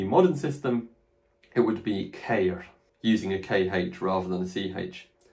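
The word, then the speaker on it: χείρ: Fourthly, we have the noun cair, which is one of the most difficult nouns to pronounce in my experience of ancient Greek.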